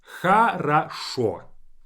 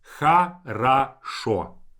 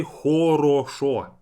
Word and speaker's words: хорошо: For example, хорошо. The very last o is stressed, that's why the last o is pronounced as o. Хорошо. But the first 2 o's are unstressed, and I say them as хорошо.